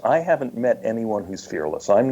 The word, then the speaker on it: fearless: They want to pronounce it fearless because that's become a very popular word. Oh, what is it? But it's two words.